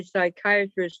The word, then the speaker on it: psychiatrist: can't you hear a psychiatrist using the bathroom because the p is silent okay when that's good